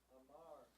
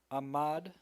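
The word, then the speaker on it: עמד: Amar stood. Ahmad. Ahmad, sorry, that's a trickster. Ahmad stood. I'm gonna just want me to do like the first column. And Sure. do the whole page. Ahmad stood.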